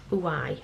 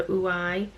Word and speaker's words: Ouai: Is it pronounced Ouai or Ouai? Ouai or Ouai? Spelled O-U-A-I. Ouai, I think it's called Ouai. As in Y-I, Ouai.